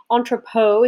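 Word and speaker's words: entrepôt: with port cities and entrepot is the correct pronunciation of this word which are basically areas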